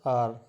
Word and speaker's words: hour: सो the word is pronounced as आर, ठीक है, इसलिए हम इसको आर बोलते हैं।